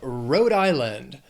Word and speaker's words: Rhode Island: Then we have Rhode Island. 3 syllables, stress is on that, the first syllable of the second word, island, Rhode Island.